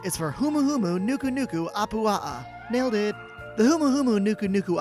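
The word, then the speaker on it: humuhumunukunukuapuaʻa: is the letter h this animal has 12 syllables in its name and i've been practicing all weekend i guess that video gave it away h is for humuhumu nuku nuku apua nailed it the humahumu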